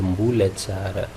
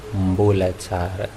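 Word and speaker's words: mbola tsara: Mbulatsara, ça c'est le mot correct, Mbulatsara. Mais avec le temps, les jeunes adaptent les choses et les anciens le suivent ou un truc comme ça. Donc, les jeunes ont transformé ces mots qui se lit correctement Mbulatsara, les jeunes l'ont transformé en Mbolatsara. Donc, à vous de choisir ce qui vous va le mieux. Peu importe, les deux, ça se dit. Mais le plus correct, c'est Mbulatsara. Mbulatsara.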